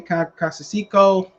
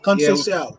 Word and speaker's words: Conceição: Valdez versus Robertson, Casasico. I heard Casasico. Conceição. There you go, motherfucker. I need New York niggas to pronounce shit.